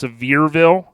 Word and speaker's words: Sevierville: It's I think it's Sevierville, Tennessee, is how you say it.